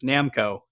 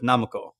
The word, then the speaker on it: Namco: I'm also cringing at myself realizing that I I'm still using the Americanized Namco instead of Namo.